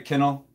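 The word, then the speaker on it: Kinnel: tie tree canal tyree kennel I keep watching these replays and stuff and hearing them say canal and it's got me going back to saying it wrong it's time you kennel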